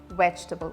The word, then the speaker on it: vegetable: we are using but it's not vegetable but it's vegetable see vegetable we don't have an